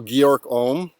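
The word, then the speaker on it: Georg Ohm: it and i think the correct german pronunciation of that is georg so georg om and if you speak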